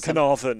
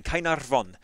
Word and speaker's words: Caernarfon: I probably said Caernarfon or something very English. So I had so much training. Say Caernarfon, and they said, don't roll your R's. You know, sing it.